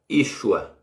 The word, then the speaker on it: Yeshua: aqui sem será o motor é que se pronuncia Yeshua e aliás é isso a e com sinal